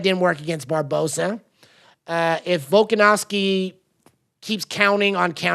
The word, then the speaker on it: Volkanovski: Now, the well-educated African is going to correct my pronunciation of the Greek name. Volkanovski.